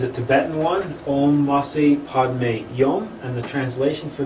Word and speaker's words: Padme: we usually do, but the Padme is just pronounced Padme, as opposed to Om and then Ma.